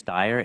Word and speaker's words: Steyer: And if I might just take 2 seconds, the name is Steyer. It looks like Steer, but parents decide pronunciation.